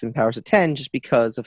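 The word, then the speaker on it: Powers of X: house of X and powers of 10 just because of how bad the x-men looks ours a 10 no no I actually just read that it's supposed to be pronounced powers of 10 that's stupid no no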